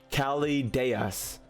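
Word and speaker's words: Chaldeas: But the proper way is Calideus.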